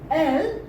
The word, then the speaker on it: elles: And this is same pronunciation L, as we have added S here for the plurial. So this is like more of she, plural. So if I say that there is one boy, then we will use this L. One girl, then we will use this L. More than one boy, we will use this I-L-S, but pronounce it L.